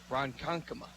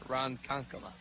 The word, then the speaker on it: Ronkonkoma: called strike makes the count Oh into the Ronkonkoma that's what it is Ronkonkoma oh it to the counter is the pitch